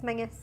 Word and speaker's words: Menzies: I say Menzies, it's Mingus. Minnis.